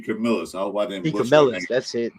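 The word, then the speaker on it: DeCamillis: D. Camillus, that's it.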